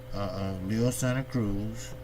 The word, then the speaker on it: Leo Santa Cruz: See, when you tall and lanky like Leo is, I say Leo because that's a Hispanic pronunciation. Leo is not the pronunciation. It's Leo Santa Cruz.